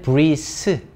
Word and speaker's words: breathe: 이거 발음할 때 조심해야 돼. 어떤 단어랑 좀 다른 거냐면 이렇게 th로 끝나는 게 있고 the로 끝나는 게 있어요. 얘는 breathe. 얘는 breathe. 이게 한글로 치면 드 이렇게 되거든.